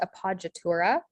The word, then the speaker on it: appoggiatura: The double consonant is common in Italian. And so one example that we see here is the P is a consonant that is repeated twice. And then the J sound is spelled with the GG. So, or GGI actually in this case.